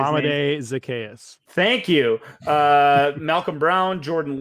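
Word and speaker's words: Zaccheaus: The options here, Amir Smith-Marset from Minnesota, then Damian Williams, Jacob Harris, Dawson Knox, Olamide Zacharias, whatever, I can't always say his name. Olamide Zacchaeus.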